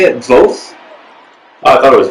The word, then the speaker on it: Voth: Voth? Oh, I thought it was Voth. Voth. Man, I gotta learn how to pronounce these people's names.